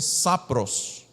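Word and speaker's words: σαπρός: No original é como se fosse sapros na pronúncia.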